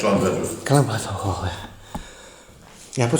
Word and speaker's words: Llanbedr: Yeah, it's Llanbedr.